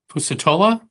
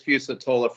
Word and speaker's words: Fusatola: Okay, Fusatola, or am I mispronouncing that? No, you nailed it, Your Honor. Good morning. Fusatola from the Slavacek Law Firm representing the Bridges plaintiffs.